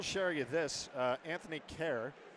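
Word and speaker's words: Kehrer: you this uh Anthony care it's pronounced care as in like k 11 I guess but it's spelled k e h r e r the last R silent that that's hockey names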